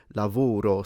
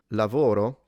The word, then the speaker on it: lavoro: If they were to pronounce lavoro, sometimes they do say lavoro, so they will close the O, but they don't go all the way to U, so he hasn't got a clue, and the V stays a V.